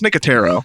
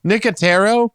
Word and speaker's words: Nicotero: because I know this guy so well it's nicotero nicotero yeah you just let me you just let